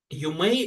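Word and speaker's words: 有名: И, соответственно, да, вот на этом сразу видно, что вот этот вот иероглиф читается как Ю, а это как Мэй.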